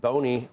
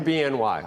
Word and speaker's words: BNY: Joining us now Alicia Lavine, head of investment strategy and equities at Bony. No, wait a minute. It's BNY, but it's Bimo. you pronounced BIMO, right?